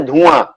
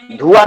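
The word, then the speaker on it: धुआँ: आ उच्चारण करते हैं ना, आ नाक से। जैसे धुआं, धुआं नहीं बोलते हैं, धुआं।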